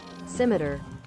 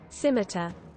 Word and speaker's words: scimitar: that pronounce symmeter again here let me show you simmeter there you go that's the american pronunciation scimitar scimitar let's go with the the british pronunciation scimitar there you go let's